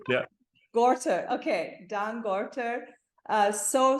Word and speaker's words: Gorter: uh Dan gter I don't know if I'm pronouncing your name correctly ger or gter G yeah gorter okay Dan gorter uh so so delighted to